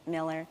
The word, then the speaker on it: Mueller: The first Whimo well the first Google car actually drove in the Mueller neighborhood Miller. Sorry. Uh don't spell it that way.